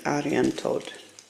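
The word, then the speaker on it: Arianrhod: Well, it's spelled Aryan Rod, but I looked it up online. The way you pronounce it apparently is Aryan Toad.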